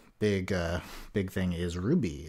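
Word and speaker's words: RWBY: uh big thing is Ruby is back R WB on um for those who are not familiar as how it's spelled uh on Saturday and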